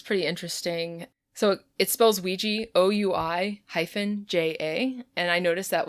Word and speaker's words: Ouija: There's also plenty of spellings where it was like WEE-GEE. Ah. Like phonetically. Ah, that's awful. That was more in, like, the early 20th century where I was, like, seeing that. Really offensive to me. Right? It's so aesthetically displeasing. And also it's like, at that point, people know how to say it. You don't need to write it out phonetically when it's already